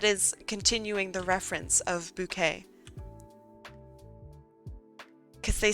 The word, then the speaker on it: Bucket: A bucket. Thank you. It's actually pronounced bouquet.